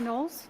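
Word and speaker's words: Knowles: My name is Nolles. My last name is spelled K N O WLE S.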